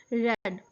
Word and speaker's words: read: Read में past tense के लिए use होता है, so you have to pronounce it like a red.